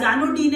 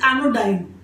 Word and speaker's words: anodyne: Yes, people pronounce it as anodyne as well. The right pronunciation of the word is anodyne.